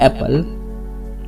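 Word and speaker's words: apple: एप्पल होता है सिर्फ एप्पल। यहाँ पे आधा पी पूरा पी नहीं होता, सिर्फ एक पी की साउंड आ तो दूसरा वाला पी साइलेंट रहता है।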